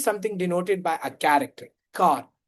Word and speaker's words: char: denoted by a character, car, char. They have multiple pronunciation, but it's generally denoted as car, okay?